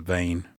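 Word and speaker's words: Vaan: And your name's Van, or pronounced Vane, V-A-A-N.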